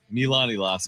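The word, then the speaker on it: Iloski: Are you guys surprised that Milan Elski signed with the Philadelphia Union? Did I say it right? That was pretty good. Good effort. Yes. Milanoski.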